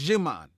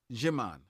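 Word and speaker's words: Djimon: there yeah and it's jimon jimon of the D is silent thank you well like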